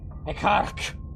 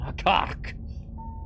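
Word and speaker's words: Hekkaryk: Hekkark. That's how I'm gonna pronounce it. Like it's a Star Trek villain. Hekkark.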